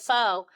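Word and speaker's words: phở: calling it pho.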